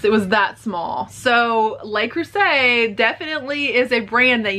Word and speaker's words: Le Creuset: I found some Le Creuset Le Creuset. Maybe you don't pronounce the T because that's French.